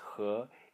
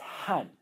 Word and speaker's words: 和: So, as far as the pronunciations go, when the character is pronounced he, it means and, or peace, or tranquility, and so on. When it is pronounced han, it is at least in Taiwan, I'm not